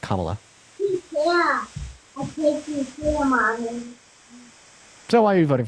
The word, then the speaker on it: Kamala: then second of all her name is pronounced kamla so why are you